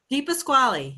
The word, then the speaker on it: DePasquale: Am I pronouncing that correctly? DePasquale. Yes, that's the way to say it.